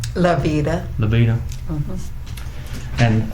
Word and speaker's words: LaVita: I always kind of pronounce her last name wrong. And what's your first name? LaVita.